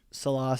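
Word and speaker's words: Saleh: the end of the game and uh coach salah said that he was just sort of trying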